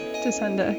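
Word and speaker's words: Tacenda: Tascenda, I believe, right? Descenda, yeah. Yeah. Yeah, so I looked it up, and it has the same root as tacit. So if you're familiar with tacit, meaning sort of implied or...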